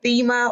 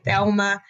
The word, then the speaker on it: Thema: not be seeing it, the H is what throws people off because the H is silent. So I usually get the Thema, or some people think I left the L out and they'll say Thelma.